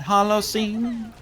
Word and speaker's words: Holocene: an Epoch in uh it's spelled like you've seen it written before but probably didn't realize that it was know when that Hol scene I didn't know it was pronounced that way actually yeah what if